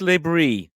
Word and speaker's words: Le Bris: Anth, you've got a manager, Regis Bris. Discuss. Praise be for Regis Bris, because it's been a while, hasn't it? And yes, you do pronounce the S, so your dad will be proud of you.